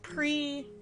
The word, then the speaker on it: prix: English is so weird we pronounce pre pre like p-r-i-x is pretty and you're like really how did that happen all right well at